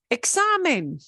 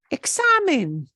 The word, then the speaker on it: examen: know this right away examine examine it's a test or an exam same thing right examine oh words that end in a vowel or NRS we normally spread stress the second to last syllable and okay here's the